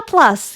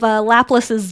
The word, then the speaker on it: Laplace: For it's like a spin-off, a rip-off of Laplace's demon. Oh, is that what it's referencing? Yeah, so it's Laplace is Laplace. Oh, Laplace. Yeah. Oh, I never even. It's spelled the same, Laplace, but Laplace.